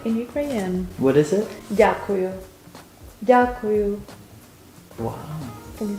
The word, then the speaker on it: дякую: Дякую. Дякую. Wow. Can you say? I don't think so. Дякую. What's the next syllable?